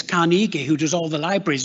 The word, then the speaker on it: Carnegie: spelling of his name it's actually ey at the end but because he thought well it's pronounced the same as Carnegie who does all the